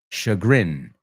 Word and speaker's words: chagrin: Inquietud, desasosiego, desazón, chagrin. It's a weird word because it has a CH, but it sounds like an SH, chagrin.